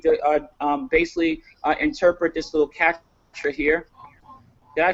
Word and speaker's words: CAPTCHA: going to need to basically interpret this little captcha here. Did I pronounce that correctly, Victor?